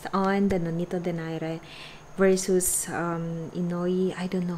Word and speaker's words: Inoue: Ah, Inoue. That's how to pronounce it.